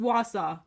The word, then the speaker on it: Wausau: let justin guess first i'm going to say wasau that's close it's just wausau it sounds like